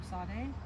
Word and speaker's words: Tsade: trouble pronouncing the letter Sade but if you think of pizza then uh you should be good to go yeah yeah and it